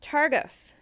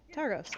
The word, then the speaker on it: Targos: that that uh torx is uh heading towards targus you heard of it for where uh targos i believe hold on one second i'm probably saying that name wrong brian argos yeah targos i was all right all right yes heard